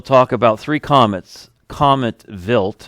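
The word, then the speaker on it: Wild: about three comets Comet vilt it's spelled wi i l d but pronounced with a V contains minerals that form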